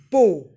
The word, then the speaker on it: bow: across earth prettier ships bow this word can also be pronounced as bow but in this poem it is bo over tops now these